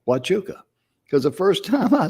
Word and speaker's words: Huachuca: in spanish yeah and they pronounce the word with a w watchuka because the first time